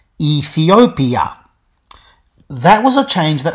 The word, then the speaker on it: Ethiopia: shift ethyopia became ethiopia you may notice that ethiopia isn't pronounced like that anymore though simmer vowels are now gone and the pronunciation is back to five syllables ethiopia that was a change